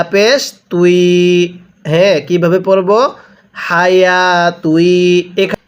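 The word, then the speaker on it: حياة: হায়া তুই। এখানে এই খাড়া জবরটা ইয়া এর উপরে ওয়াও এর উপরে কোনো খাড়া জবর হবে না।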